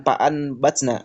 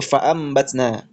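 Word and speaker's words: فأنبتنا: Bukan paatna tapi faambatna.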